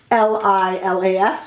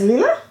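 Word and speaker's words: Lilas: lila that is spelled l-i-l-a-s or lila i should say but you do not pronounce the s so there is leela beautiful leela a flower and we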